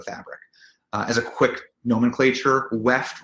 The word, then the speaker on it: weft: As a quick nomenclature, weft rhymes with left.